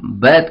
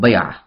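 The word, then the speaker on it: بيعة: Pronounce किया जाता है, अरबी जबान में ता मरबूता कर देते हैं, यानी कि अगर लफ्ज आखिर सेंटेंस के आखिर में ता आए तो उसको प्रोनाउंस नहीं करते, साइलेंट कर देते हैं ता मरबूता को, तो उर्दू में बैत कहते हैं और अरबी में बया।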